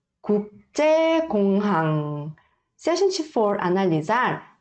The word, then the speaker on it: 국제공항: Aqui, esta primeira sílaba e a terceira e a quarta sílaba tem 받침. 받침 são as consoantes que vêm abaixo. Então, ouça bem e aí repita comigo, tá? 국제공항. 국제공항.